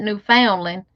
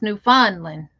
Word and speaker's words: Newfoundland: newfound newfondlin and see i used to pronounce that newfoundland until i found out his newfondling you was lurking hey